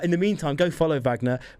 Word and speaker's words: Wagner: Uh, in the meantime, go follow Vagna. Vagna the singer said Vagnner but spelled with a W just for your searching reference.